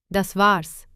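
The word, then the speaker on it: das war's: इसमें अक्सर अपॉस्ट्रोफी लगाई जाती है क्योंकि ए अक्षर का उच्चारण नहीं किया जाता। दस वार्स इसका अर्थ है बस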